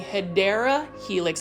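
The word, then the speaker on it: Hedera helix: can't go to Kroger without me finding a hedra helix or what you call a hyera helix that's a correct way to say it and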